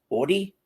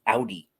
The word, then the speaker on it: Audi: left the area do they call it an or Audi in Michigan in Jersey we call it an Audi like an Audi belly button leaving leave a a comment and tell me if you say it like New Jersey or if you say like Michigan ODI or Audi a-u-d-i right okay I just found